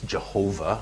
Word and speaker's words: Jehovah: equivalent nowadays to YHWH, some people pronounce this Jehovah, other people pronounce it Yahweh, YHWH.